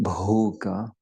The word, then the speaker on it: bhoga: Bhoga. Rhymes with yoga, doesn't it? Bhoga.